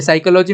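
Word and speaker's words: psychology: ये साइकोलॉजी में क्या है, P साइलेंट है और इस साइकोलॉजी का हमने प्रोनाउंसिएशन किया, तो इसका स्पेलिंग बदल गया ना।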